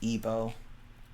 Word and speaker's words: Igbo: It's pronounced Igbo.